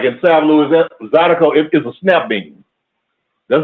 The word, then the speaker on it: zydeco: I was laughing the way when you said the word, when you were saying Zydeco, it's Zydeco.